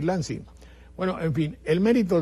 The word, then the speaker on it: Lansing: Lo que pasa es que el mérito, entre comillas, de Lansing, o Lansing, se escribe L-A, yo creo que debo decir Lansing.